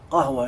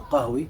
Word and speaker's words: qahwa: Qahwa in Arabic, or qahwi, from which the English or all the other languages of the world have corrupted the name coffee. It's pronounced qahwa or qahwi in Arabic.